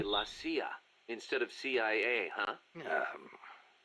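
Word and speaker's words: la CIA: They say Lassia instead of CIA. Huh? Um, nothing strange about it. That's how it's pronounced when you read it in Spanish.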